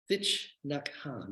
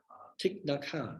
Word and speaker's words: Thich Nhat Hanh: Thich Nhat Hanh, is that the correct pronunciation? Thich Nhat Hanh, it's good to have that right.